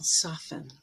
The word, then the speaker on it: soften: standard english and also if you take soft and make it a verb with the en the t will drop there as well soften and at the end